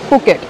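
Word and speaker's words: Phuket: नॉट फुकेट sorry it's फुकेट I always pronounce it एज फुकेट but then वहां पे फुकेट होता है नॉट फुकेट में इशन का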